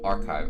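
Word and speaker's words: arXiv: what a mood archive is that how you pronounce the website oh okay the x is a so archive okay okay okay I got it I got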